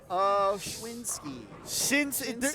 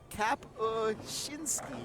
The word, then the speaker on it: Kapuscinski: Skylar Schwinski. There is not a W there. Do you not know how to pronounce letters? There's not a Jersey in Idaho. I don't know what you're talking about. In Jersey. Let me try again. Try again. Kapuscinski. There you go.